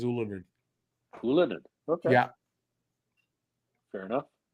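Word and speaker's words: Ylönen: I thought it was Yolonen. No, from him, the actual pronunciation is Ulanin.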